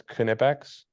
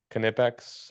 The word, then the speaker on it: Knipex: I have heard a little birdie tell me it's Knipex. The K Oh, might not be oh. silent, but I think that'd be a little weird. Knight, Knipex, Nipex, whatever it may be.